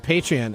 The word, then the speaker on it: Patreon: Or is it Patreon? I think it's Patreon.